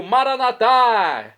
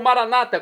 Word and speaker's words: Maranata: do aramaico Eu Clamo maranat como dizemos nós católicos ou Maranata como dizem nossos irmãos separados os evangélicos ou protestantes não importa a pronúncia o significado é o